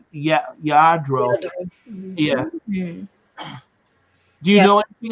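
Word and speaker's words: Lladró: Yeah, pronounced Yadro.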